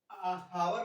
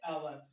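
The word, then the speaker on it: hour: तो इसमें मैं बता दूं जब कोई वावेल्स के पहले हमारा कॉन्सोनेंट होता है तो हमारा एच जो होता है साइलेंट हो जाता है। जैसे अब इसको हॉनेस्ट ना पढ़ के पढ़ेंगे ऑनेस्ट, इसको हावर ना पढ़ के पढ़ेंगे आवर, इसीलिए इसके आगे लगा है एन।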